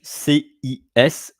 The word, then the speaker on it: ciseaux: CISEAUX, which is pronounced in French CISEAUX.